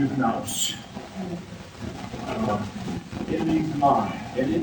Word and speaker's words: nous: From that, bythos comes down, emanates something which is called, again, the English pronunciation is nous.